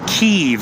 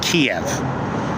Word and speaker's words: Kyiv: Like Kyiv instead of Kiev, right? Kiev is the Russian pronunciation, the Russian name, the colonizer's name for this city. For the Ukrainians, the city is Kyiv. Well, it's not actually Kyiv. I can't quite get that last vowel right.